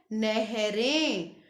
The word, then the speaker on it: नहरें: नहर, नहरें। अब बिंदी कहाँ सुनाई दे रही है हमें? एक ही मात्रा के बाद, नहरें।